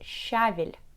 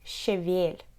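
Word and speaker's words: щавель: it's sorrel in english most russian people get used to stressed the first syllable in this word and pronounce it as shavil but don't do that say cheville cheville and here's a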